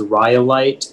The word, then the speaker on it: rhyolite: Yeah, so the only pronunciation is rhyolite.